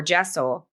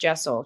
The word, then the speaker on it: deosil: So if you're in traditional witchcraft, going clockwise or jessel, spelled deosil, but pronounced jessel traditionally, is the active manifestation.